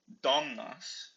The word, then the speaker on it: domnas: So, domnas, women, is still has that stress on the first syllable, even though it ends in the consonant s, just because of how nouns work.